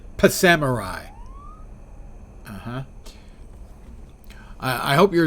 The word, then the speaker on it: Psamurai: scheduled so you're Samurai I pronounce it P Samurai uhhuh I I hope